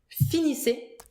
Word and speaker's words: finissez: Vous finissez. Vous finissez. Double S again. Final Vous finissez. EZ. Finissez. Finissez. Pronounced E.